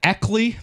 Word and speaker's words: Eckley: Eckley, the punter. Eckley? Is that how you say it? Yeah, Ryan Eckley, the punter.